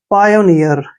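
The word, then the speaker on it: pioneer: double E आर इसको पी आई ओ का उच्चारण हम क्या करते हैं पायो ठीक है ऐसे पायो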